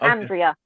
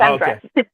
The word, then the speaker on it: Andrea: His name's Andrea, but it's spelled like Andrea, but it's Andrea. Okay.